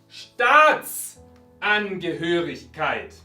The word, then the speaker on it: Staatsangehörigkeit: Regla básica del alemán. Cualquier palabra, no importa la cantidad de sílabas, no importa si es una palabra normal o compuesta como esta. ¿Dónde está el acento? En la primera sílaba.